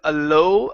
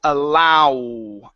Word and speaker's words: allow: and another thing here instead of alow alow it's allow allow this another another sound that's wide to small allow allow allowing good